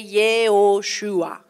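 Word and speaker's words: Yehoshua: Ils sont très Josué, ça se prononçait Yhoshua.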